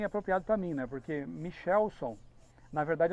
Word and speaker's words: Michelson: Essa é a pronúncia, mas minha mãe não sabia, e ficou Michelson por causa dela.